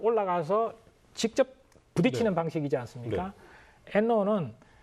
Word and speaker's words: NLAW: 그 이제 엔로라고 읽을 수 있는데요.